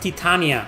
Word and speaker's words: Titania: It's pronounced Titania.